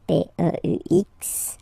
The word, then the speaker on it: peux: P-E-U-X, okay, don't pronounce the final X.